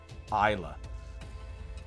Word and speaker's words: Islay: barrels that sublimates into a rich fragrance it's pronounced isla i've been to beaumore brewery by the way